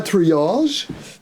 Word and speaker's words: Triage: Donc Triage, un nom un peu prononcé à la vieille France.